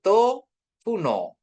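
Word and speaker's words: το βουνό: Jadi to funo gunung. To funo. To funo gitu ya bacanya. Karena ada di sini penekanannya di O. To funo gitu ya.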